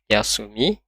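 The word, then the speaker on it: 休み: Ini cara bacanya adalah yasumi, yasumi.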